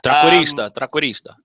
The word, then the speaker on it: trequartista: But when they mispronounce stuff, you have. So what is it? Trequartista.